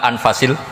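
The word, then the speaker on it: أنفس: Kalau saya baca anfasil kutub karena maknanya kitab ter baik. Kalau kitab terbaik bacanya bukan anfus tapi apa? Anfas.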